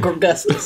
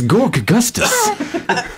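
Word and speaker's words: Gorkgustus: answer that question truthfully is it gork gustus or is it gor gustus it's gork gustus is and you say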